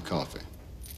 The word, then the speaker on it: Coffey: Your name is Coffey. Yes, sir, boss. Like to drink. Only not spelled the same.